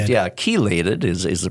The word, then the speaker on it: chelated: CH yeah c-h-le-a yeah it kind of looks like it would be pronounced chiliated yeah chelated is is the pronunciation